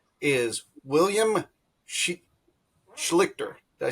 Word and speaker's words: Schlichter: Then in the middle, of course, is Ash, and way on our right is William Schlichter.